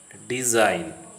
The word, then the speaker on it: design: If a word starts with GN or the GN is the part of the same syllable, the G is silent, as in the following words coming to your screen: sign, not, gnome, foreign, design.